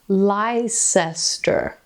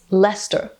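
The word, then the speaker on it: Leicester: then there's things like pronouncing certain words i've only ever read like lycester is what i would think this town is pronounced as but it's lester where did all the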